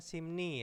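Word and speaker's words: 심리: sini ada ilbon n ini simri dibacanya simni ya ini rnya itu menjadi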